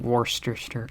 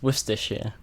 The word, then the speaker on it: Worcestershire: Because then people try and read it and they pronounce it Worcestershire. Or Worcester. Worcestershire. And yeah, it's Worcestershire. Worcestershire. That is a tricky one.